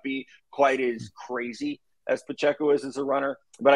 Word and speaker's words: Pacheco: seen in Kansas City with our guy Isaiah Pacheco that's that's the right way to say his